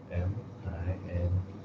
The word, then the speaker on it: Ming: That's M-I-N-G.